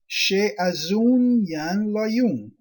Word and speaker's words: Shaizun Zan Layun: Shaizun Zan Layun, pronounced Sheazun Yan Layun.